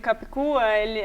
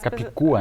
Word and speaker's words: Capicua: Capicua. É difícil, às vezes as pessoas não pronunciam certo mesmo. O que quer dizer o nome? Então, as pessoas acham que é indígena, né? E esse nome é catalão.